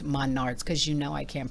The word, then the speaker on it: Menards: called goof rings really which I got at Maynard's Menards ma nards she said pronounced monards because you know I can't pronounce it correctly